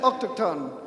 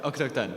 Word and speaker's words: autochtone: The term is autochtone, but you said it autochtone when you first said it. Yes, autochtone. Yeah, autochtone. Yeah, you got it.